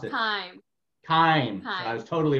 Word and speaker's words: Keime: How do you pronounce it? Keime.